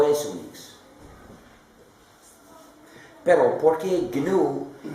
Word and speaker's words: GNU: Se llama GNU, G-N-U, pero se pronuncia normalmente GNU.